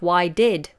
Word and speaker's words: why'd: a homophone actually because it sounds like to be wide WI de but what it actually is is a contraction of why did why did wide wide but it sounds exactly the same as the word to be wide or something is wide wide so this one